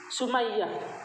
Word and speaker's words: Sumayyah: Sumayyah. bacanya Sumayyah. Nanti saya lihat di YouTube tentang ini, beliau menjelaskan, alumni Azhar menjelaskan dibaca Sumayyah.